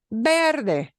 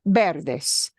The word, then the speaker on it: verde: Verde, verde, and it won't be pronounced verde. It'll be verde, verde.